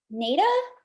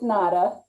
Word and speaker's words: Nada: introduce um let's see nata is that correct whoa did i pronounce that correctly it's nada nada you i was gonna